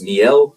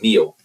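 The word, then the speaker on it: Miel: two ways it's pron it's spelled m i e l so I don't know if it's pronounced me or I've heard some people say it's just meal but we go to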